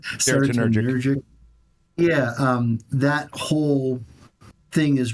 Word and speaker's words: serotonergic: And so that's so I think that's whole serotonergic. Did I say it right? Serotonergic.